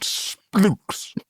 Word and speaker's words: SPLX: So researchers at an entirely unpronounceable company called Splooks, it's spelt SPLX.